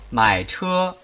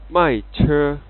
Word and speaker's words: 买车: For this example, the correct pronunciation is 买车 learners might pronounce wrong like 卖车 After learners practice, the system draws out learners' tone curves in comparison with the standard ones.